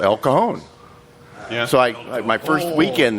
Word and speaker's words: El Cajon: the gentleman, I said, how do you get to El Cajon? He goes, well, sir, it's pronounced El Cajon.